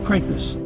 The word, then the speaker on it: Preakness: Preakness. It's Preakness. Just like replace the P with a B, break, Preakness.